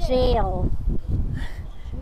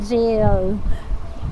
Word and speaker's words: gaol: Old Melbourne but that actually is pronounced jail. Oo. Melbourne gaol kami ng Melbourne Gaol dati. Jail pala siya. Old Melbourne jail.